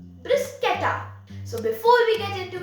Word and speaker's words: bruschetta: with garlic and tomatoes since it's an italian dish let's pronounce it the way italians do brisketa so before we get